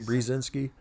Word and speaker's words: Brzezinski: of sounded it out it's more like b-e-r or like bree brzezinski right mr mcdonald my